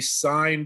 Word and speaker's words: sine: All that means is that I'm going to click the sine button. S-I-N. I know it's spelled sin, but it's sine.